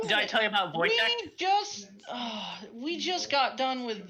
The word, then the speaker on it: Wojtek: It's not pronounced how it's spelled. It's Wojtek.